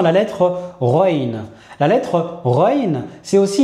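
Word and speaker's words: غين: C'est un peu la manière dont on va prononcer le R et de plus précisément lorsqu'on est à Bruxelles.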